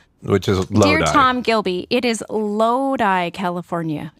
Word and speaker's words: Lodi: Dear Tom Gilby, it is Lodi, California. It is spelled L-O-D-I, but it is pronounced Lodi, California.